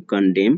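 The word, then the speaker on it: condemn: फिर है कंडेम, कंडेम, यहाँ पर एन साइलेंट होता है, पढ़ते हैं कंडेम, कंडेम की हिंदी होती है निंदा करना।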